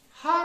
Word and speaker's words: hour: इसी तरह से एच लेटर या एच अल्फाबेट हार होता है। क्या होता है? HOUR।